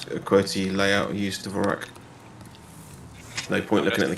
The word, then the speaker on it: Dvorak: I believe it's pronounced Dvorak, but anyway, she has a Dvorak keyboard.